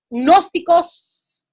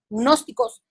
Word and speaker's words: gnósticos: ese entonces estaban los gnósticos se escribe con g n oeste gnósticos ellos hablaban acerca del